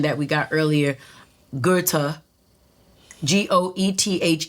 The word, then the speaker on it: Goethe: not only know he's German because of the pronunciation that we got earlier Goethe goe th e Goethe all right thank you